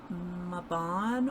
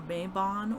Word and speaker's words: Mabon: So we have the Seasons of the Witch, Mabon or Mabon Oracle, however you prefer to pronounce it.